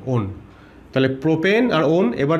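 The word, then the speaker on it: -one: এমনি উচ্চারণটা দেখলে ওয়ান মনে হবে, কিন্তু আমরা উচ্চারণ করবো ওন বলে, ওন।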